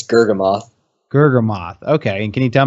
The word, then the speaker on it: Gurgamoth: horribly it's it's really hard for people to pronounce it's gergoth gam moth okay and can you tell me where does